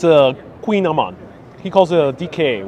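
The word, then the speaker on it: kouign-amann: yeah queen amman because the queen is is pronounced queen but spelled with the k and is that snack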